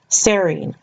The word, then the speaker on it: serine: a note all of these terms like the names of the different nitrogen bases or the names of these amino acids all tender rhyme with the word scene or team so for example you pronounce them phenyl alanine serine tyrosine cysteine leucine prolene glutamine etc